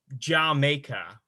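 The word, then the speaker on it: D'yer Mak'er: And Jamaica, which is actually how it's supposed to be pronounced. Yeah, I bet you never noticed that pun.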